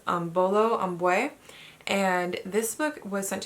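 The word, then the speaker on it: Imbolo Mbue: And I finally looked up how to say this author's name so that I'm not butchering it every time, and it's Bolo Ambwe.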